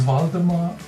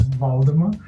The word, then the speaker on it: Waldemar: My name is Waldemar. That's a German pronunciation. And Waldemar pronounced with a V, not with a W. Got it. It's Waldemar.